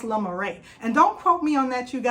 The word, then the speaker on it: Le Marais: So I wanted to talk about this beautiful Chanel bag, and this bag is the Marais, I believe it's pronounced La Marais.